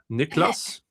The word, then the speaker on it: Niklas: It's Niklas, Nikl. Well, you weird English pronunciations. Niklas, Niklas.